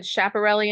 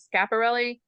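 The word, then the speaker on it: Schiaparelli: I had a I had a somebody comment that they couldn't watch me anymore because I mis mispronounced um I said chaperelli instead of scaparelli.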